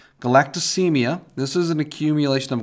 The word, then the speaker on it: galactosemia: Okay, this one is pronounced galactosemia.